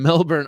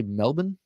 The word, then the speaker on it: Melbourne: some Christmas cheer from Melbourne Australia how cool so do I say Melbourne uh or or I'll say it Like A Yank Melbourne Melbourne Australia that's so cool thank